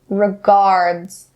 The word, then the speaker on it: regards: word a word regards be careful and do not change the the sound to it don't say regards regards not correct regards regards listen to me and hear how I have the D sound clearly regards regards now say